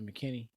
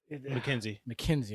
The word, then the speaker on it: McKenzie: I didn't even mention that re-signing Isaiah McKinney. McKenzie, I'm sorry. Yeah. I'm saying it wrong.